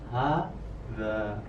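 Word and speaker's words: هذا: H-nya itu panjang, za-nya itu panjang ya. Jadi hadza, bukan hadza, bukan gitu, atau hadza bukan, atau hadza, tapi hadza.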